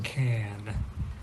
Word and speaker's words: can: we can do something, native English speakers will probably not pronounce the ah in can. It's almost like they jump from the C to the N, or if they do pronounce it, it's just like a little grunt, like can.